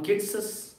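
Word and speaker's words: Keats's: अब मैंने किट्सस का, इसी तरह से प्रोनाउंसिएशन होगा, तो स्पेलिंग क्या होगी, Keats, यहाँ तक तो नाम ही है। अब अपॉस्ट्रफी एस लगाकर आप बोलेंगे और हो जाएगा किट्सस पोम्स।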